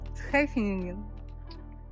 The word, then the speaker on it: Scheveningen: Hello Scheveningen. What? Scheveningen.